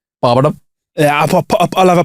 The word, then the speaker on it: poppadom: Poppadom. Yeah, I'll have a poppy dom. No, mate, there's no Y in it.